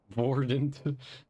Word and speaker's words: Verdant: It's like people who call me Verdant. It's like, it's not technically wrong. Like the French or like German pronunciation. Voidant.